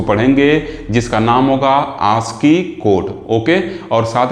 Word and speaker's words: ASCII: ठीक, मैं standard book को फॉलो करता हूं, इसमें इसका जो प्रोनाउंसिएशन है वो आस्की लिखा हुआ, इस वक्त मैं यहाँ पे आस्की लिख दिया हूँ।